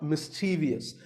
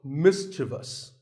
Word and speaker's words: mischievous: in the word mischievous this is not mischievous there is no i after the v the last syllable is just thus so mischievous and then there are words